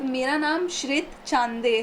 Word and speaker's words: श्रित: आपका उसको अच्छे से पूरी ऑडियंस के सामने प्रोनाउंस कीजिए। तो मेरा नाम श्रित चांदे है।